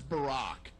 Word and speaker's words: Barack: His first name is Barack. It rhymes with a rock.